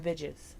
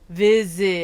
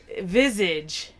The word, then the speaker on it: visage: You just can't get that word. I cannot get vidges. Vidges. Vijaz. Viz. Visage. Is it spelled wrong? Visage. No, it's not. No, you just weren't saying it right.